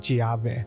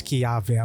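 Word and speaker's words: Chiave: I've been saying his name wrong. I keep on saying ChiV. It's Kyave.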